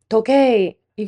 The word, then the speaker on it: Tokyo: When we do a long O sound to the ending sound is an uh in your textbook will write this as T O K Y O O but it is an ooh sound to number three.